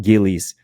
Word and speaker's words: Gillies: You pronounce it Gillies, and I was like, oh, yes.